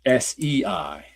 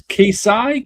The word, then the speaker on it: Kaisei: KAI-SEI. Right, Kaisei. They even do that in the comic itself when they're like, "What's this Kaisai? Kaisai?" Like they can't even pronounce it.